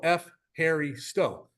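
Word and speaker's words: ευχαριστώ: you in greeko or you can just go f Harry Sto and that's how you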